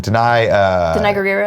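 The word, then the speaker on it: Danai Gurira: Denai Guerrero?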